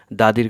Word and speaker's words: the: অনেকে ভাবতে পারবে হয়তোবা দাদীর কোন সিভি ড্রপ করবে কোথাও কিন্তু না এটা হচ্ছে আমরা একটু দেখলে বুঝতে পারবো কনসোনেন্ট লেটারের পূর্বে দি থাকলে দা উচ্চারণ হবে কনসোনেন্ট লেটারের পূর্বে দি